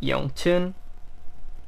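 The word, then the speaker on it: YongJun: La manera correcta de pronunciarlo es Yongchun, Yongchun.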